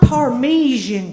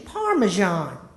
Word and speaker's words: parmesan: I got to tell you Mama You've Been pronouncing it wrong all these many years it's not parmesian chicken mama it's chicken parmesan little old Maisy stood back and cocked the